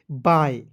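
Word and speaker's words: bye: वाई ई क्या पढ़ेंगे बाय बी वाई ई को क्या पढ़ेंगे बाय पढ़ा जाए देखिए बी का उच्चारण ब लिख दीजिएगा वाई ई का उच्चारण आय के रूप में करेंगे क्या हो जाएगा बाय बाय मीस क्या होता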